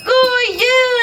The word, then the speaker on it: God jul: Goo you, everyone! Goo you. Yes, very good, yes. That is how you say Merry Christmas in my country.